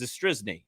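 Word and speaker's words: Zastryzny: former Cub Rob zisy they kept saying how hard that is to pronounce it's zisy isn't it is that what it is it's not that difficult uh and then they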